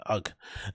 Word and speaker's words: UGG: Oh, is it UGG or UGGs? It's UGG.